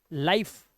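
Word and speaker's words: life: किसे साइलेंट रखना है? हमें ई को। तो इसे हम पढ़ेंगे लाइक, लाइफ, शेयर, शेरे नहीं, मिके नहीं पढ़ना है, माइक,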